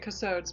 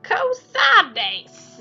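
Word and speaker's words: Cosades: You used to just say it Kosodes, but that's not the right way to say it.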